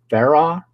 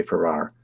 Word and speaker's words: Farrar: the history and steward for and I always mispronounced their last name is actually Farah there are and and I always say I think it's Farah and I always say Farrar so I always mispronounced their last name but